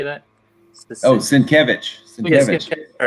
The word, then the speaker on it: Sienkiewicz: Yeah, the replacement for I can't pronounce his name. Bill Straczynski. How you say that? Sienkiewicz.